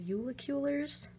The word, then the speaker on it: Julekuler: I absolutely love these I think the pronunciation is yulik Euler's I love them they